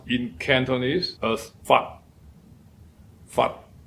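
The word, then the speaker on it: 發: And it is pronounced in Cantonese as fat. Fat. Again, it ends with an unvoiced t.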